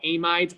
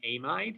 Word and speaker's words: amide: it is and so amides pronounced am id are nitrogens attached to a carbonyl and indeed we've seen